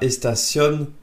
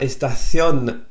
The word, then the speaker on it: estación: « Donde está la estación de bus ?» Troisième fois, ¿Dónde está la estación de bus? Alors, si tu n'arrives pas à bien prononcer le th à estación, ce n'est pas grave.